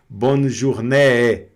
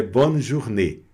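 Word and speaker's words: bonne journée: agudo fica e esquece no francês é o contrário, é fechado. É que você vai pensar como se fosse aqui o acento, o chapeuzinho, circunflexo, tá? Então você vai pronunciar fechado.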